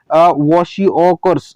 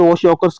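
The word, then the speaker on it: kwashiorkor: पे तो क्या है वॉशिओकर्स। ओके वॉशिओकर्स कहते हैं इसे। ओके के साइलेंट होता है इसके अंदर, वॉशिओकर्स that is protein deficiency of disease.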